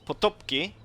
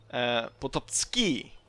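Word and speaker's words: Potocki: But apparently it's supposed to be pronounced Potopski, as I recall. I don't have the comment section up right now, so I don't really exactly remember. But I'm pretty sure that was it.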